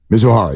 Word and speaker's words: Mizuhara: interpreter mizuhara is that how you say it mizuhara yes mizuhara uh started gambling the debts got